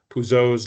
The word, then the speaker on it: Poiseuille: This is just the physics of fluid dynamics, uh Poiseuille's law, Poiseuille. Um depending whether you use French or American pronunciation, we know resistance goes up to the radius to the fourth power.